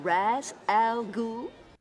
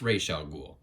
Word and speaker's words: Ra's al Ghul: Am I pronouncing this right? Mr. Raz Al Ghul? No, lady, you're not pronouncing that right. It's Ra's al Ghul.